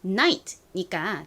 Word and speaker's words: night: 그게 바로 GH가 껴 있습니다. 그런데 얘네는 별다른 소리가 나지 않아요.